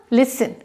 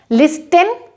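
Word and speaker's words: listen: Next है आपका लिसन, लिस्टन नहीं होगा, लिस्टन नहीं इस्तेमाल कर सकते।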